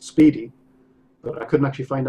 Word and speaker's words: SPDY: for because obviously it's it's pronounced Speedy but I couldn't actually